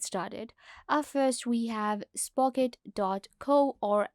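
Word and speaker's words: Spocket: so let's get started at first we have spock it dot co or s pocket as some people will pronounce it sprocket is an amazing platform that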